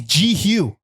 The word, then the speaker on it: Jehu: I've heard Yehu. I've heard because it's a Hebrew. It's a Hebrew word, and yes. all in ancient Hebrew, Y's were J sounds. Jehovah, spelled with a Y. Oh yeah. So I think people thought it was Yehu, but I think it's Jehu.